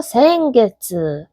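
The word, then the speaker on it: 先月: 그다음에 1 2 3 4 5월 빼고는 다 뭐다? 개츠. 그래서 생개츠. 지난 달개츠.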